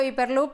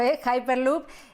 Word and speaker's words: Hyperloop: Yo había dicho Hyperloop, pero después de escucharte a ti, cambio la forma de pronunciarlo, Hyperloop.